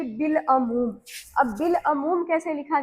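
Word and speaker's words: بالعموم: अलिफ की आवाज साइलेंट हो जाएगी और लाम की आवाज आएगी। तो यहां पर अलिफ लाम एन मीम के साथ बड़ी ऊ की मात्रा और मीम बिल अ मूम ठीक अबुल कलाम बिल्कुल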